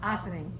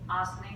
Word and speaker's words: Ossining: Ossining, Ossining, New where York.